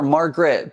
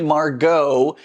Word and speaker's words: Margot: month include Mark go I keep wanting to call her Margaret but it's actually Margot the boxer from legit kits I've been slowly working my way through that one I can't believe I've been pronouncing it completely wrong this entire time and nobody's corrected me